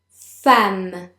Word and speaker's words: femme: Femme. Again. Femme. In this word, the first E is pronounced as if it were an A. Femme.